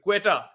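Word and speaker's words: Quetta: pronounced for the K but queta is like Q so qua Gladiators um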